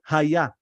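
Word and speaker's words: היה: So we pronounce it A, right? So we have the vowel A, the short. So we say Haya.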